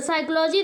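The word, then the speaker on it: psychology: तो am silent है साइकोलॉजी दे दे तो पूछे साइकोलॉजी में कौन सा वर्ड आपका साइलेंट है तो पी अगर पी इस तरीके का आपको देता है तो इसमें आपके पी साइलेंट वर्ड होते हैं तो इस तरीके से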